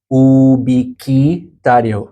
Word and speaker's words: ubiquitario: Ubiquitario. Otherwise, in some vowel combinations, it is silent.